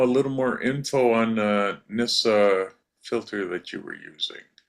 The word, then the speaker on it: NiSi: Pat Lynch wanted to know a little more info on NISA filter that you were using. The Nisi filter? Nisi, yeah. Yeah, it's spelled capital N, small I, capital S, small I, Nisi.